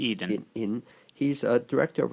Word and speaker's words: Eden: And Zachary Eden, now, am I pronouncing the last name Yes, correctly? Eden.